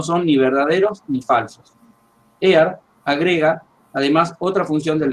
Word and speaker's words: Ayer: Por las dudas, Ear, el que yo estoy mencionando como Alfred Ear, se escribe ayer, ¿no?